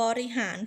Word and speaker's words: บริหาร: อนาคต นั่น เอง ค่ะ หรือ บริหาร พยางค์ ที่ สอง จะ เบา นะ คะ คำ ว่า ลิ บริหาร นั่น เอง ค่ะ และ สำหรับ